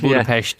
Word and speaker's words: Budapest: Well done on the Pest, by the way, pronouncing it correctly. Very much. Yeah, when you hear locals saying it, you go, oh, right, okay, yeah. So you say it like you're from the West. The West, right. Budapest.